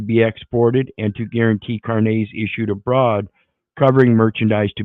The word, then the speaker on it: carnets: going to talk about is a thing called Carn Nets now I did a video a long time ago and I mentioned this but this is carnets it's actually pronounced cares Carnes French seemingly and it has to do with